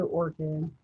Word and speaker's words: ORCID: actually take me to ORCID, right? Yeah. I call it ORCID like the flower, but then I misspell it because it does not have an H in it.